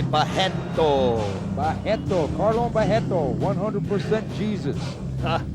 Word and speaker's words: Barreto: And the R's in Brazil you pronounce as H, so you will say Barreto.